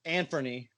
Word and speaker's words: Anfernee: right first of all Anfernee is how you say is names like nobody knows how to say you guys missed